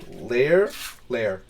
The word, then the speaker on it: Laer: the Asamar city of Lair. Yes, Lair. So that's spelled Laer, by the way.